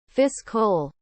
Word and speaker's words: fiscal: Lots of people pronounce it the physical year. Drives me nuts. Fiscal, not physical.